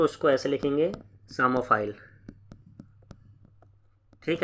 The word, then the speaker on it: psammophile: इसमें P silent है, अगर मैं इंग्लिश में बात करूँ तो ऐसे लिखा जाएगा PSAMMOPHILE, सामोफाइल, ठीक है जी।